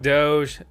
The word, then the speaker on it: Doge: I'm pretty sure the correct way to say it is Doge, but hey, there's always more to learn and whatever, right? Doge.